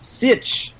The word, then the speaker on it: sietch: called who doesn't love this is a word from Frank Herbert's dun books it means a place of sanctuary in times of dangers pronounced sit the sit was a